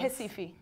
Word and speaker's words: Recife: Recife. Okay. Yeah, it's spelled with an R, like, even if it sounds like that.